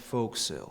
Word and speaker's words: forecastle: thing called the uh The Forecastle it's pronounced folksill anyway my point is